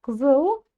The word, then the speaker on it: қызыл: Дальше гзыл. В слове гзыл ударения нет, и буква «к» будет звучать больше как буква «г». А все почему? Потому что у нас идет согласная буква «л».